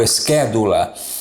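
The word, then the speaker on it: schedula: O CH pode ser pronunciado com o som de C como na palavra casa. Por exemplo, esquédula é exatamente o som da letra K, né, da língua grega.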